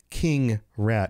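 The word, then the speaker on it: Keengrat: King is spelled K-E-E-N-G-R-A-T. King rat is what that's supposed to sound like, right?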